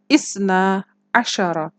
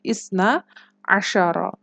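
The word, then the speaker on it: اثنا عشر: Kalau 11 tadi ahada asyara, kalau 12 isna asyara. 2 itu isnani, tapi khusus untuk 12, ni-nya hilang ya. Jadi isna asyara.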